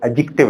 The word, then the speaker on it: adjective: पहले तो मैं बताता चलूं कि डी साइलेंट है, एडजेक्टिव लफ्ज होता है।